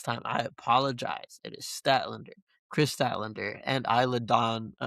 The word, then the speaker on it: Statlander: um, and uh, Statlander versus which I was mispronouncing last time. I apologize. It is Statlander, Chris Statlander, and Isa Don who is a former WWE tag team champion.